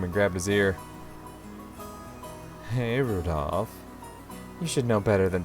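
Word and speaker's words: Rudolf: on it's just anyway this guy's name is pronounced rudolph he must hate grandfather for giving him that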